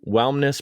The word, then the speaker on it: Whelmness: Whelmness Productions, and that's WHELMNESS. If everybody's listening, like, why does he keep mispronouncing the word wellness? I'm saying Whelmness Productions, and Jacki started that in 2018.